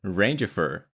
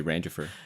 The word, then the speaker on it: Rangifer: It's like Jennifer, but Ranger. It's like if Randy uh married Jennifer. Yeah. It would be Ranger.